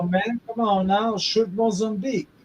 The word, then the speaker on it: Mozambique: shrimp Mozambique. Shrimp moles? Shrimp moles? Say it slow. Man, get that fucking cock out of your mouth. Shrimp Mozambique. Shrimp moles and beak? Yeah, there you go.